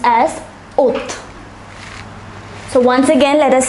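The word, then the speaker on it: août: zhuang july is pronounced as joey august is pronounced as oath so once again let us say for may it is may june is pronounced as juwan ju1 july is pronounced as juvie august is pronounced as oath notice this symbol here it is called a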